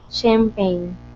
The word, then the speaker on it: champagne: do you say champ champan yes champag shamp champagne mhm good okay so this is a representation